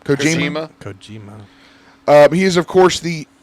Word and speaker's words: Kojima: Kojima.